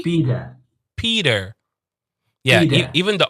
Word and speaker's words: Peter: Pita No. is more on the British side. Pita. Yeah, that sucks. Yeah, that's 100%. That's British right there. Peter. There's a D in there, so it's P, and then you say der.